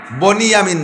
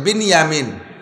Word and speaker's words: বিনিয়ামিন: ভাই ইউসুফ আর বিনিয়ামিন বনি ইয়ামিন না একটু উচ্চারণ শিখেন বিনিয়ামিন শব্দটা কি কন তো বিনিয়ামিন আর বনিয়ামিন কেউ নাম রাখলে বনিয়ামিন বললে বিনিয়ামিন বিনিয়ামিন দুই ভাই আর উনার